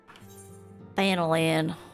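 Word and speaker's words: Thanalan: Thanolan. That's how it's meant to be pronounced.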